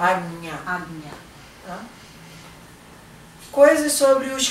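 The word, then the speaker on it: Ajna: Como que se pronuncia? Agnya.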